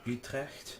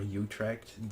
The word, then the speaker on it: Utrecht: And there's Utrecht, or Utrecht, depends if you want the Dutch or the English pronunciation.